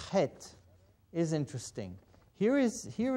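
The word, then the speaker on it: heth: not have in English it's pronounced head it comes right from your thought it's a general sound it comes from your thought throat and obviously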